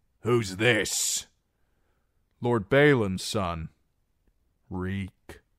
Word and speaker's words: Reek: "Reek. My name is Reek. It rhymes with cheek."